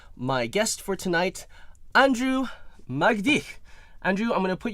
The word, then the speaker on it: Magdych: But Magdych. Yes. So the accent is on the mag. Magdych. Yes. Okay. So Magdych.